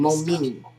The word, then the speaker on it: Momeni: That's how you pronounce his last name. Momeni.